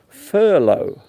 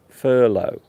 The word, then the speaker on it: furlough: at it it is a very strange word Furlow that is how you pronounce it Furlow and it means to stop working you stopped